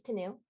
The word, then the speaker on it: Tanu: counselor for the drc you can pronounce my name like canoe but with a t because this the if